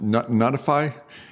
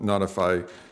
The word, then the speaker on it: ntfy: a look at ntfi it's actually pronounced notify if I pronounce it